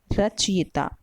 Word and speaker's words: रचयिता: सही शब्द है अंतिम वाला रचयिता। हमें अपना उच्चारण भी उसी हिसाब से ही रखना होगा, क्योंकि हिंदी जैसी बोली जाती है वैसी ही लिखी जाती है।